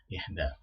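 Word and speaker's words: إحدى: Ihda ya, ihda. Karena kalau bentuk perempuannya untuk bilangan ini bukan wahidah tetapi ihda ya.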